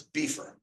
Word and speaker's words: Beefer: known of Vermont as beefer right so you would spell it like b f ER beefer um but his actual